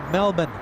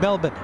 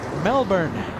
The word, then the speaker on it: Melbourne: qf95 flying in from Melbourne that's how the locals say it Melbourne us Americans we say Melbourne the locals though trust me they say Melbourne a 13h hour 30